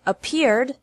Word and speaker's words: appeared: appear is appeared appear has two syllables and appeared also has two syllables don't pronounce it a